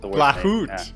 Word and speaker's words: Blachut: Well, one other thing I'll add, since it wasn't in the intros, Blachut. Is that pronounced right? No, it's impossible though. It's Blachut. It's the worst. Blachut. Yeah. French? Polish. Polish.